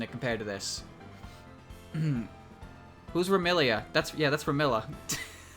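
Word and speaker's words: Remilia: Ramilla Scarlet. We're still fucking this name up. Are you seeing this? This is my favorite character, Ramilla Scarlet. Welcome to Team Scarlet Devil Mansion HQ, Cirno. Ramilia! Look, they say her name right there, but they fuck up the box? How? How do you mess that up?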